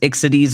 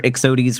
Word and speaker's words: Ixodes: symptom of starry but it is excities or ixodes whichever way you prefer to pronounce it they're both correct and brain bug of